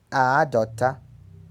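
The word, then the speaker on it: àádọ́ta: o helinho lei ea palavra 50 pronuncia-se a adota a adota logo 48 se pronuncia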